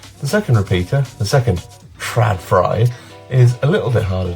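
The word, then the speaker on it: TRÅDFRI: So IKEA have a brand, Tradfry, that's definitely how it's pronounced, and I've bought a couple of mains-powered Tradfries.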